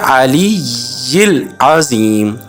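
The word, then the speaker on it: العلي العظيم: الا باللہ العلی العظیم۔ علی العظیم، یہاں ہم نے علی یل نہیں پڑھنا، علی یل نہیں پڑھنا، ادھر ہم نے ریڈ کرنا ہے علی العظیم، یا کے نیچے ہم نے زیر پڑھنا ہے۔ اب دوبارہ سنیں، سبحان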